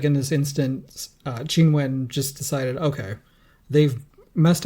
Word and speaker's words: Qinwen: And it seems like in this instance, Qinwen just decided, okay, they've messed up my name so many times, let's pick something they can actually pronounce. But in Mandarin, her name would be pronounced Qinwen.